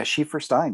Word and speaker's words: Schieferstein: I pronounce it right? Yeah, Schieferstein.